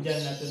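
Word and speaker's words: جَنَّة: Nah, ini contoh tiga kata yang sama hurufnya, hanya satu perbedaan harokat di huruf pertama, junnatun, jannatun, dan jinnatun, tapi maknanya beda.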